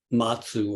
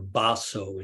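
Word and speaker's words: Mazu: There are 2 exchanges, both of them concern the Zen master Matsu, or Baso in Japanese pronunciation, one of the greatest, perhaps the greatest of the early Chinese Zen masters.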